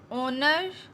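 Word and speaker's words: honour: keep रखना, ऑनर इज़्ज़त, ऑनर, ऑनर में एच साइलेंट है, ऑनर इज़्ज़त, मर्सी रहम,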